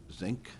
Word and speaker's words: Zinc: and um Al U is it pronounced zinc if you oh oh wonderful it's just the thank